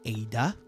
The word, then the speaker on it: Ada: You got to say it like Leon from the OG. Ada, sure, why not?